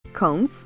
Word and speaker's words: conch: counts spelled c o n c h but pronounced k o n k s is a type of